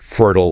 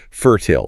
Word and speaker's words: fertile: Then you have words ending in "ile," like fertile or hostile. An American flattens it out. Fertile or hostile. A Brit leans into the vowel, fertile and hostile, rhyming with "ile."